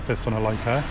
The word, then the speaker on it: Thessalonica: Okay, a big welcome to Thessaloniki or Thessalonica. I think you can pronounce it either way.